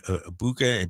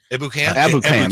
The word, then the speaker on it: Ebukam: So you had Bosa, Armstead, Kinlaw, and how do you say Samson Ibuka, but Drake Jackson. Ebukam.